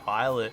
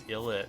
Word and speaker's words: ILLIT: There's a new song by Islet where they pronounce their name as Illit, and I'm like, that's not how you say your own name, but alright.